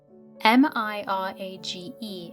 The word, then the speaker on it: mirage: give it up he added Mirage and marriage m-i-r-a-g-e is pronounced Mirage said valency shortly picking up her